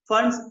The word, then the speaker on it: Pfund: फंड्स, PFUND, ऐसे Okay. P से फंड बोलना चाहिए पर I think P silent generally, फंड series बोलेंगे।